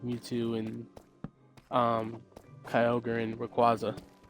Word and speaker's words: Rayquaza: and um Kyogre and Rayquaza or Razaquis depending on how you say it. It's not Raziquis.